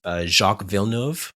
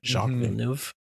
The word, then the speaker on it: Jacques Villeneuve: famous people that most Canadians would know is Jacques Villeneuve. If I pronounced right, Jacques Villeneuve, the race car driver, and Elvis Stoico.